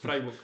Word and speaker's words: Freiburg: Freburg, Freiburg, Freburg, Freiburg. Me tengo que es que es que la pronunciación la dije como medio en inglés, no en alemán, ¿sabes?